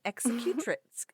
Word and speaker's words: executrix: It's an executrix.